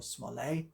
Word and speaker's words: Smollett: the one translated by Tobias Smollett, or Smollett, as I know some people like to pronounce it.